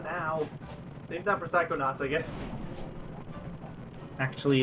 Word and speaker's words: Psychonauts: Save that for Psychonauts, I guess. Actually, it's pronounced Psychonauts.